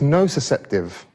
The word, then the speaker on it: nociceptive: just realized today that i've been pronouncing this one wrong for five years so i was always saying not deceptive but apparently it's no susceptive so burning yourself is